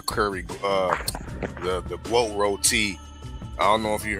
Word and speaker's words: roti: And I heard KG pronounce roti rot.